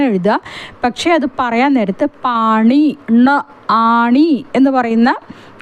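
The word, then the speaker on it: पाणी: പക്ഷേ അത് പറയാൻ നേരത്ത് പാണി ആണി എന്ന് പറയുന്ന അതിൻറെ ണ എന്ന ഉച്ചാരണം വേണം വരാൻ പാണി എന്ന് വേണം ഉച്ചാരണം വരാൻ പാനി എന്നതല്ല അത് ഒരു തെറ്റാണ്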